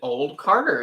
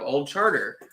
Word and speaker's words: Old Charter: but for some reason I pronounced it old Carter instead of Old Charter no way hold on